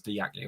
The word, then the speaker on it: Diaku: Michael Fish saying Diaku, or Diaku is pronounced as Diaku in case.